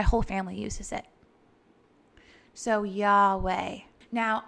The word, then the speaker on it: Yahweh: family uses it so yahweh now i take this two-syllable word and use it with my breath so inhale yeah exhale way i almost view it